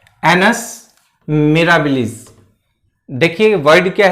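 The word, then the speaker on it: annus mirabilis: तो इसका जो प्रोनाउंसिएशन है आप ध्यान दीजिए, एनस मिराबिलिस।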